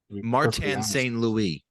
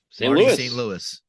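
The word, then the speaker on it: St. Louis: sure he coached the Canadians St Louie uh no no Tom say say it correctly good good good St Louis say his say his real name his full name martan St Louis I friend of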